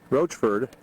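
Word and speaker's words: Rochford: trail and we're in said i pronounced it roachford population 25 elevation 5305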